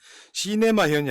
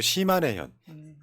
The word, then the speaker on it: 시마네현: 시네마현이 아니고 시마네현.